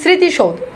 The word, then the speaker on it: স্মৃতি: তার মানে শব্দের শুরুতে মফালা থাকলে সেটার কোন উচ্চারণ হয় না।